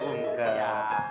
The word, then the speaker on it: UMKM: Iya kan bacanya umkem.